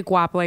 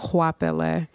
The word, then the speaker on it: Goapele: a family name and I say Gua play because it's easy to pronounce but it's really pronounced wapella and it's my grandmother's